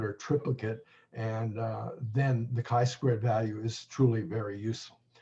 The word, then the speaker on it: chi-squared: examples of that shortly and very finally the chi squared value is actually a dimensionless number it has